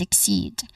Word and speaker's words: exceed: When it comes to pronunciation, there's two syllables. First is again x. I know. I only I which has a short e sound followed by a k sound. K sound. So iick. Following this the second syllable is seed.